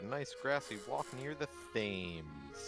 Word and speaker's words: Thames: It's the perfect day to find a nice grassy walk near the Thames. Yes, exactly. That's how you pronounce it.